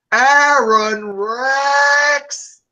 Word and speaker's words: Aron Rex: And you didn't say it right. It's Aaron Rex! You have to sing his name because it's so beautiful.